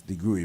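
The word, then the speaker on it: DeGruy: The phonetically it's degree but D E G R U Y joy deg.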